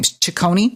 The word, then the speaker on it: Ciccone: Ciccone?